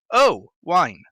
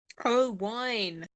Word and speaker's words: Oh-Wine: i used to say you're a bar and your mate gives you a glass of wine and you say oh wine that's how you say my name oh wine do you have to